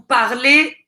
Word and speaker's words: parlez: il elle parle donc vous entendez quand je prononce vous parlez le z et silencieux il elle parle on